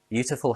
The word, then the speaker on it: beautiful: Beautiful has three syllables. Stress on be.